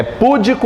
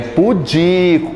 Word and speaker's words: pudico: aqui gente oi é púdico ou pudico é pudico qual é a sílaba mais forte aqui o di que é uma pessoa